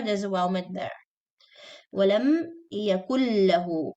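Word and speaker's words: وَلَمْ يَكُن لَّهُۥ: Walam yakullahu. This noon is not pronounced because it's complete idgham. So noon is completely skipped and lam is doubled.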